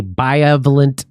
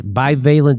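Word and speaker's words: bivalent: years old have taken a biovalent jab by valence is how you say it by valence by valent Jeb that's 84 percent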